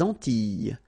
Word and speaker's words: Antilles: So here it's quite interesting because, well, you've got this E and then double L, ES. Okay? So final S and E, really, you don't pronounce them. So you get this I, I sound.